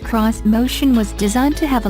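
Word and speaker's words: Xmotion: on Japanese design elements this motion pronounced cross motion was designed to have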